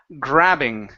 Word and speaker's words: grabbing: of gray grabing okay this is an a sound a short a gr grabbing grabing grabbing uhhuh very